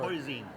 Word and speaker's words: hoisin: - Do you pronounce it "ho-zeen" or "hoy-zeen"? - "Hoy-zeen".